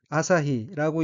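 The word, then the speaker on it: 朝日: 다음 어휘의 한자는 조일이고 일본어로는 아사히라고 읽으며 아사히는 아침에 또 그 햇빛이란 뜻의 명사입니다.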